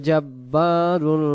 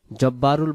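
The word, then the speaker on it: ٱلْجَبَّارُ: সে অক্ষরটা এক আলিফ সালাম মুমিনুল মুহাইমিনুল আজিম জাব্বারুল মুতাকাব্বির আল মালিকুল কুদ্দুস সালামুল মুমিনুল মুহাইমিনুল আজিজুল জাব্বারুল অনেকে শব্দটা জব্বারুল বলে ফেলে এ শব্দটা জব্বারুল উচ্চারণ হবে মানে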